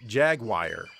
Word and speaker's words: Jaguar: appeared on the Atari Jaguar sorry Jagwire I know a lot of Brits get triggered the way Americans say that word because I guess they